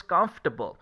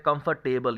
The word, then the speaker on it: comfortable: इसको बहुत लोग इस तरीके से प्रोनाउंस करते हैं कंफर्टेबल, ये कंफर्टेबल नहीं है, कंफर्टेबल, कंफर्टेबल, कंफर्टेबल। जिस वर्ड के लास्ट में ABLE आ जाए उसको एबल प्रोनाउंस नहीं करते हैं, जैसे उदाहरण के तौर पर वेजिटेबल नहीं होता है वेजिटेबल, वेजिटेबल।